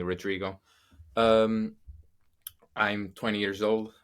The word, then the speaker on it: Rodrigo: I'm Rodrigo, which is harder to pronounce. I'm A little bit. they. I mean, English people tend to like not be able to say the the R, but Yeah. you can call me Rodrigo.